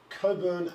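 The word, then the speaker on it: Cockburn: tell it then is coburn AARC do not people from interstate don't read it the way that it's spelt it's Coburn so despite it being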